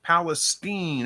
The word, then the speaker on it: Palestine: we at here diversity love says it is pronounced Palestine okay there we go thank you Andy rabbit